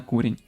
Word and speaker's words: курінь: керував очолював курінь курінь Вибачте правильно наголос на курінь якось так щоб знали так і